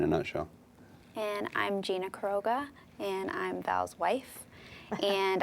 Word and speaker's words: Queiroga: Pronounce it for me. Queiroga. Queiroga.